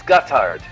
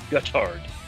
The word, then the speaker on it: Gotthard: What's the pronunciation? It's Gotthard. Gotthard.